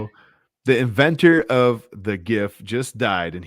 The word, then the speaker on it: GIF: The inventor of the GIF just died, and he pronounced it like Jif peanut butter.